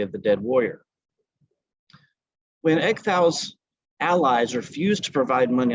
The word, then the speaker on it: Ecgtheow: His name is pronounced, I believe, Ecgtheow. Forgive my Anglo-Saxon pronunciation.